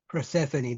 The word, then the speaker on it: Persephone: Persephone, that's how you pronounce it.